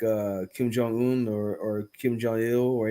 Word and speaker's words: Kim Jong-un: like well Kim Jong he is how you pronounce his name Kim Jong-un so Kim Jong is he he's a bum